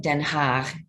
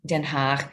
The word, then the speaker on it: Den Haag: We went to the international schools of The Hague, and the Dutch pronounce it Den Haag, Den Haag. You have to have that guttural G.